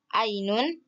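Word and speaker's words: عينٌ: pintu Kemudian yang terakhir ada Ainun cara bacanya Ainun bahasa Indonesianya mata selanjutnya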